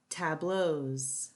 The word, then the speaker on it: tableaux: The ending is pronounced as Z. Chateaus, beaux, tableaux.